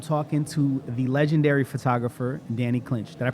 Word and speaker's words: Danny Clinch: I am Lex One here with the Art of Hip Hop, and I'm talking to the legendary photographer, Danny Clinch. Did I pronounce it right?